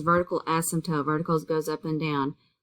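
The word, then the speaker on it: asymptote: right o1 rational functions this is pronounced ASM toote and excluded values what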